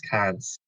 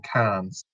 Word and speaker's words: Cannes: It's hosted twice in Cannes. It's not Cannes, it's Cannes. The Cannes Film Festival, yeah. The Cannes Festival. Why am I pronouncing the S?